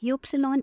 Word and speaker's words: Ypsilon: Next up is Y, which sounds like Ypsilon in German.